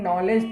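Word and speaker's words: knowledge: जैसे लिखा रहता है आप लोगों के सामने नॉलेज, तो नॉलेज में के क्या होता है, साइलेंट होता है, जिसको हम लोग कनऊ लदगे भी पढ़ लेते हैं कभी कभी, है ना?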